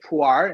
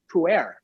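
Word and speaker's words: Pu'er: If you really want to say them, learn to say puar instead of puer, you know?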